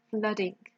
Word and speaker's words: flooding: And the pronunciation is an A, flood, flooding. Now, if there is something